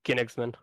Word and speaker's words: Königsman: It's pronounced Königsman. Königsman. Hey, like Guinness.